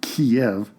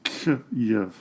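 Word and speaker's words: Kyiv: the capital of Ukraine the russified and anglicanized version of Kev has been put aside and has been replaced with the Ukrainian version of KV according to ukrainians I've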